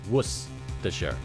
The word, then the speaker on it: Worcestershire: do you say this worcestershire worcestershire sauce there's no you don't pronounce the r it's just wuss the shirt was what's the shirt